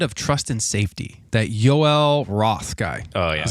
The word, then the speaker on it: Yoel: Yeah, the interesting thing with Twitter, I was reading a lot on this, is the head of trust and safety, that Yoel Roth guy.